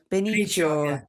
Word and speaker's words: Benicio: Bennett, how have we pronounced his first name? Del Toro? Yeah. Benicio del Toro.